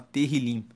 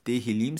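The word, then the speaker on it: תהילים: Inclusive, o livro de Salmos no hebraico se chama Tehillim. Na Bíblia original significa louvores. Tehillim se escreve Tehillim e quer dizer louvores.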